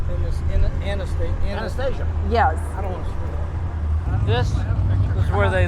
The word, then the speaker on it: Anastasia: name uh anesthesia from this in a state anastasia yes this is where they live and stay